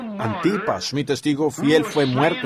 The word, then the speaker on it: Antipas: No has negado mi fe, ni aún en los días en que creo que se pronuncia A n T I PS, Antipas, mi testigo fiel fue muerto entre vosotros, donde mora Satanás.